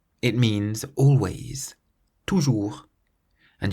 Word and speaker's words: toujours: Toujours. Toujours. It means always. Toujours. And you'll notice that it ends in the letter S, but we don't pronounce the letter S because it's not in the word careful.